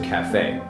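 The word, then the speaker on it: café: So in English if you see this little thing that's an accent mark that means you pronounce the e as an a . Ok . So cafe .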